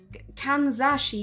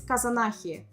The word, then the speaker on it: kanzashi: shari says kaza uh kanzashi yes that's the one kanzashi sorry i pronounced it in in my russian voice kazanahi um which i i